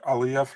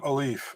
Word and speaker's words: Aliyev: You know, they should stop calling him Aliyev. It's Aliyev. You have to put a Y actually in between the I and the E. It's for pronunciation.